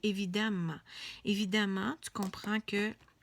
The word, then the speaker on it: évidemment: viii e évidemment évidemment c'est écrit comme ça mondy pas évident mais on dit évidemment évidemment on comprend que